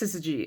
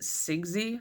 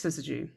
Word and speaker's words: syzygy: don't know this word, it's pronounced syzygy. And the only reason I know that is because of the X-Files and also Googling it like 9 times because I forget a lot. Because for some reason I always want to pronounce it Sigsy. I don't know why. But yeah, I'm pretty sure it's syzygy.